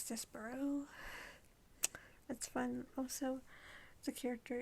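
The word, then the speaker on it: Despereaux: All I knew was the first word was Desperex. That's how I pronounced it. Till I learned it was Despero.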